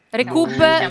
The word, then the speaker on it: Recup: sempre cercare la banana recoup scritto come lo stiamo pronunciando all'italiana recoup con la banana